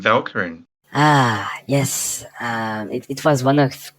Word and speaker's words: Velkyrin: No, Velkyrin. The English pronunciation is actually good, but if we say it in French, it would be Velkyrin.